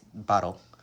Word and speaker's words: bottle: but it's little so any word that has T T and L we actually pronounce it like DL dull TTL we think